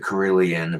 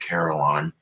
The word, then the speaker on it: carillon: a carillon or carillon europeans pronounce it korelian but the americans pronounce it carillon the 48th bell would